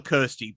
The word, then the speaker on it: Christy: Or they call they call her Kirsty, but it's spelt Christy.